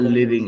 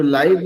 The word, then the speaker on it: live: तो लाइव मतलब जब कोई चीज प्रत्यक्ष रूप से दिख रहा हो तो उसको बोलते हैं लाइव. जीने को लिव. स्पेलिंग सेम ही है लेकिन प्रोनाउंसिएशन अलग.